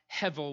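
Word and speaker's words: הֶבֶל: word hevel h-e-b-e-l but it's pronounced hevel with a v and and it literally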